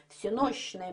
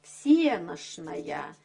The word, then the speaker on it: всенощное: трапезу пойдём и также здесь различается ударение в церковном слове но ударение в книжное всенощное бдение и ударение разговорное всенощная в нашем языке есть